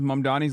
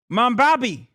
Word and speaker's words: Mamdani: I got stomach poisoning trying to take a shot every time someone says Mamdani's last name wrong. You mean Mamdani? Mambabi. Mamdupada. Mandandi.